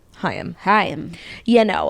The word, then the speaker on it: Haim: They say it's like L'chaim, but Chaim. lose the L. Haim.